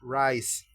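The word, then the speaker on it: rice: Puedes escribirle en tu cuaderno de apuntes, se pronuncia rise.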